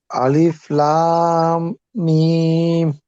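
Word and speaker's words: الم: লামগুলো আরেকটু করে লম্বা করতে হবে, 4 আলিফের পরিমাণ করতে হবে এখানে। আলিফ 3 আলিফের মতো হয়, লাম 4 আলিফের মতো করতে হবে।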